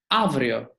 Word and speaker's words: αύριο: Whenever we have a epsilon, alpha epsilon, like in avrio, it will pronounce as an v, avrio.